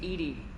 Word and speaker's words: EDI: why are you named edie edie is the phonetic pronunciation of edi that is an acronym for enhanced defense intelligence okay how are you